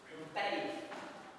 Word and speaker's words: ampere: Ampere. A gente fala ampere, então pronuncia o E geralmente no final, mas dane-se a pronúncia, quero saber da física.